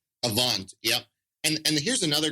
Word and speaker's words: Avant: credit score, this top one, I can never pronounce this right. Is it Avant? Avant.